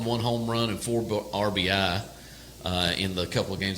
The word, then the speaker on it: RBI: RBI. RBI, yes. Yeah, there's no S on that.